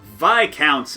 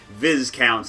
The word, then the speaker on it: Viscounts: the west kingdom series vi counts of the west kingdom or viz counts if you want to pronounce things poorly i'm going to go